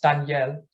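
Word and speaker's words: דניאל: carefully to me so in Hebrew it's pronounced Danielle and it means God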